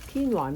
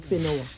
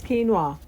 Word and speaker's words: quinoa: And that's how we pronounce it, quinoa, not quinoa. So it's quinoa.